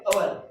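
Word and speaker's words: hour: हॉर्स में भी वही रूल हुआ, पर इसे पढ़ते हैं, अगर इसे हम हवर पढ़ने लगेंगे तो यहाँ पे ए आएगा, पर उसे हवर पढ़ते ही नहीं, उसे पढ़ते हैं अवर।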